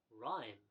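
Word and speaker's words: RiME: well as well uh rhyme r-i-m-e I guess rhyme would be the right pronunciation for that uh this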